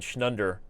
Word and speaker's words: schnunder: Schnunder rhyming with thunder, which rhymes with a blunder.